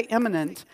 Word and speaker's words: immanent: both immanent and transcendent and when I say imminent I'm talking about a word that is spelled I am M a in ent it's